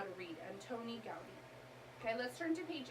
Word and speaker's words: Antoni Gaudí: So let's all pronounce it together. Antoni Gaudí. Let's all read his name. Antoni Gaudí.